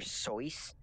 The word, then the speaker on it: Seuss: changed his name but his original name was dr soyuz yeah yeah that's how it was supposed to be pronounced it was source but even he but